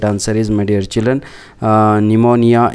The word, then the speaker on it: pneumonia: Question number 8, right answer is, my dear children, pneumonia is the right answer. P is silent, so right answer is option B is the right answer.